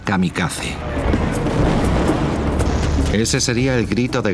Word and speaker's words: kamikaze: con la armada invasora lo llamaron el viento divino que en japonés se pronuncia kamikaze ese sería el grito